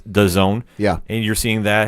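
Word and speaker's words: DAZN: Camilo and the zone I believe it's officially pronounced I call it desin but right apparently it's the zone yeah and you're seeing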